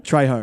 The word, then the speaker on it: Trejo: How do you pronounce his last name? Trejo.